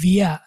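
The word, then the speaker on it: wir: ইস মানে হচ্ছে আমি, আর আমরাকে আমরা বলবো ভিয়া। ডব্লিউটাকে আমরা বলছিলাম না ভি এর মতো উচ্চারণ হবে, ভি ডব্লিউটা। তাহলে এটা বানানটা দেখেন, ভি ই এর বা আরটা আর কি, ভিয়া।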